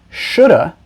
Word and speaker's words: should've: have which is often contracted to should've which is often pronounced shoulda is used to show